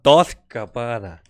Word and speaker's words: Dolce & Gabbana: Dolce & Gabbana.